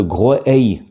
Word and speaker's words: Groix: Et certains pensaient que le nom dériverait de Groey, Groey, alors qui correspond un peu à la prononciation locale de Groix par les Groisillons.